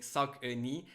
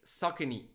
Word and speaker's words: Saucony: patience uh ron tommy thanks for confirming so it's saucony saucony yeah that makes sense and sounds better than my previous pronunciation thank you to all